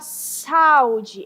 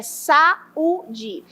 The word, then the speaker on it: saúde: Você não fala saud, é saúde.